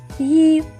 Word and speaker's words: ї: Буква завжди позначає два звуки. Ї.